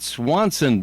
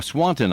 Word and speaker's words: Swanton: Then on Saturday night, it's Matt Swanson Band or Swanton, I mispronounced that.